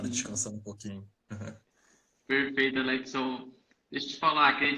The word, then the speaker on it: Alexon: Alexon mesmo a pronúncia?